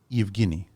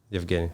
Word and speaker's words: Evghenii: So Evghenii. Evghenii. Yes. Evghenii. How do you pronounce the last name?